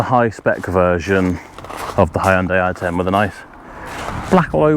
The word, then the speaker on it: Hyundai: how to say it it's Hyundai isn't it it's not Hyundai it's Hyundai that is technically the correct way but you say it